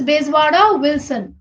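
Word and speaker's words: Bezwada Wilson: कुछ लोगों ने तो नाम चेंज भी कर दिया है, चेंज करके अपना ही प्रोनाउंसिएशंस डाल दिया है। It's बेजवाड़ा विल्सन।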